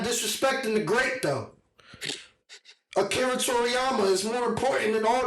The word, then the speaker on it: Akira Toriyama: For those who don't know how to pronounce it, I'm going to say it one more time. Akira Toriyama.